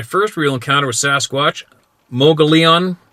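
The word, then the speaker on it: Mogollon: real Encounter With Sasquatch mogon monster pronounced mugon all right before this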